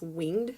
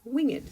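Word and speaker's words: wingèd: This is actually not a typo where it has that little emphasis over the E. So instead of pronouncing this winged seraphs, you're going to pronounce this winged seraphs, just in case you were curious.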